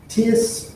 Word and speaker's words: tierce: And so the two principal parries we're going to look at are tierce and quarte. Tierce, or I should say tierce as in tertiary, because it is 3, and then quarte or